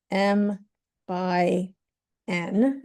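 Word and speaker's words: m × n: We can say the size of a matrix is um n M * N and this is pronounced M by N.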